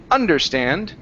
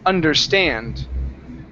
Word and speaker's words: understand: the word understand or stress is on the end of the word instead of understand it's understand understand uhhuh one more